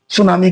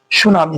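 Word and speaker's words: tsunami: पहले पढ़ रहे हैं सुनामी के बारे में देखिए सुनामी का पूरा अंग्रेजी होता है तशुनामी हम लोग पढ़ते हैं तसुनामी बट यहां टी जो है साइलेंट है टी जो है साइलेंट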